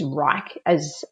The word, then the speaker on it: Wrike: We use Wrike, which is spelled WRIKE, as our internal management system.